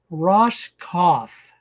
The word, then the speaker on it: Roskopf: we're visiting with Kurt Ross cof so the p is silent that's all I have